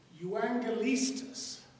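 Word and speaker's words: εὐαγγελιστής: translation for evangelist and i'm going to write the pronunciation it's juangalistus you angoliestus is what a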